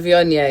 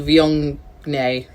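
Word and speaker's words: Viognier: um and sarah could be called shiraz but vionia is always going to have the same name or pronunciation even though it's got a g in it which is people think that it's called viennae or but it's very difficult yeah that's it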